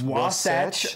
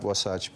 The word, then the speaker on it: Wasatch: I'm at the, you're going to have to help me to pronounce this, Wasatch.